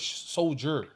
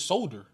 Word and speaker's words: Solder: Nah, it's Solder. Oh shit. I don't even think it's like Solder. Or something. I thought it was Soldier. I pronounced it was Soldier. Soldier too, but it's like Nate Solder. Well, that's how it's getting pronounced from us. So ain't no I in it.